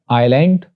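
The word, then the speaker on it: island: एस के बारे में रूल्स ये हैं कि एस इज not pronounced before L, यानी एस को एल से पहले प्रोनाउंस नहीं किया जाता, लाइक आइलैंड, आयल और आइलेट।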